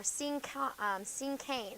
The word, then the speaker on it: cinquain: And then let's look at the cinquain or cinquain. That's how you pronounce it.